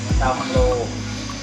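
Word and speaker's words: เตาฮาโล: อังโล่ ใช่ มั้ย ครับ ภาษา เมือง เขา เรียก ว่า เตา เัง เตา ฮาโล เตา ฮาโล ต้อง ออก เสียง ให้ มัน ถูก ด้วย นะ เตา ฮาโล ปกติ แล้ว บ้าน ใคร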